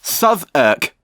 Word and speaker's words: Southwark: It's pronounced Southwark.